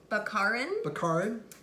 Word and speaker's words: Baccarin: Nathan Fillion, Marina, how do you pronounce her last name? Baccarin.